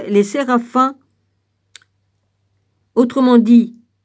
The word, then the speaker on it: séraphin: À partir d'Isaïe 6, les séraphins, autrement dit, on prononce comme ça, les gars, S-E-R-A-P-H-I-M. Oui, c'est ça, séraphin.